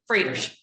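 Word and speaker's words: Froedtert: Joy Rivera at Frodert. Did I pronounce it? Frodert.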